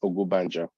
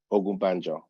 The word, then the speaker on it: Ogunbanjo: It's Ogunbanjo. Ogunbanjo. Just like you said. Ogunbanjo. Ugubenjo.